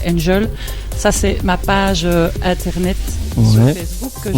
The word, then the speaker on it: NGL: J'ai transformé ça en NGL. On peut prononcer donc Angel.